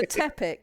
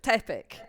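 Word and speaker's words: Pteppic: in front of it the p is silent yes so you have the character tepic who has a pee in front of it so it's sort of tepic it's it's just It's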